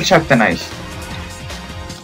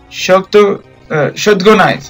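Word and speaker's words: Shotgun Ice: Su debilidad es el Shaktanize. O no me acuerdo cómo se pronunciaba. Shotgunize.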